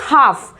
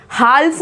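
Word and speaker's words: half: Next word देखिए हाफ, हाल्फ नहीं बोलते, आधा यानी कि हाल्फ नहीं बोलते हैं, इसको क्या बोलेंगे, हाफ, हाफ।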